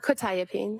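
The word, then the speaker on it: quetiapine: Probably mispronouncing this. Quietipene. Uh quitapene.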